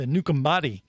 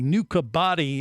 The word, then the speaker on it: Nukubati: I didn't want to confuse everyone because, you know, she was putting that Fijian accent on it and adding like an M to Nukambati. But it's really Nukabati is how you would just phonetically say it.